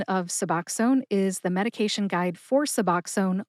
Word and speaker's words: Suboxone: The correct pronunciation one more time is Suboxone.